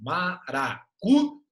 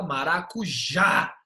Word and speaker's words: maracujá: fica mara aqui n maracuj o já é a ca mais forte você fala marac não nem maracuj você fala maracujá a sílaba forte está na última então toda palavra que